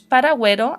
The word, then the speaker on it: paragüero: Que sí tengo que pronunciar la U. No son muchas palabras en español, pero hay algunas. Pronunciamos paragüero, antigüedad, pingüino. Los dos puntitos para asegurarnos que sí lo estamos pronunciando. La G o la J.